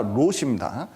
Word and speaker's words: 롯: 특히 이 모압 족속은 이 롯이, 이 발음에 주의해야 되는, 룻이 아니라 롯입니다.